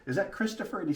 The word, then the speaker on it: Christophe: My name's Christophe, by the way. All right. Like- If you'll spell that for Like me. Christopher, but without the R at the end.